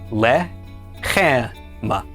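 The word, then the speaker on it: לחם: So let's pronounce this word. The lammed makes la. The sele is e. The is the sele is e. And finally me makes the sound m. Altogether this is pronounced lemma.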